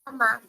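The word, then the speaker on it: 妈妈: फातिमा, आप जब word pronounce करने लगती हैं तो बच्चे आप थोड़ी सी स्ट्रेस दे रही हैं, वो नहीं देनी। Mama. Mama. जी, Mama. इतना इतना लॉन्ग करने की जरूरत नहीं है, मामा बस।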